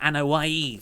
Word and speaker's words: Anoa'i: You're referring to the Anoa'i family. That's right, yes. I just said that because I know how to pronounce it.